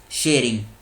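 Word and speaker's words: Tshering: भूटान के जो प्रधानमंत्री हैं ये हैं लोतेय शेरिंग, LOTAY, लोतेय और शेरिंग। टी साइलेंट है, SHERING।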